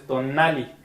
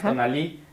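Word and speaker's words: tonalli: me está regañando, que las palabras mexicas, Náhuatl, no se acentúan en la última sílaba. Nunca hay palabras agudas. Exactamente. Okay. Entonces por eso es tonali, no es tonalí, y México es México.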